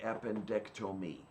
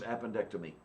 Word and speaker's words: appendectomy: well, how do you pronounce I mean, how does one pronounce appendectomy? Appendectomy. But it sounded like you were saying appendectomy. Yeah, Like you said tome instead of Tom.